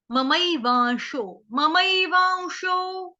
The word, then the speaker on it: ममैवांशो: ममैवांशो वाऊ, जैसे वंशज वंशज बोलते ना हम लोग, वंशज। ममैवांशो ममैवांशो शो, जैसे अपनी चीज शो करो, SHOW शो, ये वो वाला शो। उस तरह से आपको इसका उच्चारण करना है।